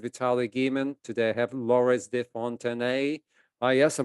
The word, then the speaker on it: Laurence de Fontenay: Today I have Laurence de Fontenay. Yes, I pronounced that name right, so that means my French is coming along.